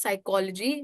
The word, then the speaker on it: psychology: So it's dog and complex word is psychology where P is silent. So this is another word where P is silent.